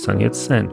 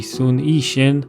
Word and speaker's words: 孫逸仙: A good example is the founder of the Republic of China, known in the West as Sun Yat-sen. By the way, this is also a Cantonese romanization. In Mandarin, that would be Sun Yixin, but at least he really was Cantonese.